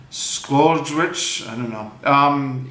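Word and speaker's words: Czolgosz: an anarchist and his name is difficult to pronounce it's Leon squad rich Eastern European immigrant during this time there have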